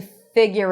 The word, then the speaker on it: figure: I love this phrase to figure it out. Figure. Figure. So you can add a little Y sound there, but there is no U even though there is the letter U.